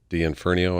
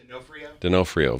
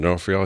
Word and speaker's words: D'Onofrio: Even D'Inferno, I think's how you say his name, on Special Victims, you know, that detective. Vincent D'Onofrio. Yes, Vincent, say his last name again? D'Onofrio. Vincent D'Onofrio.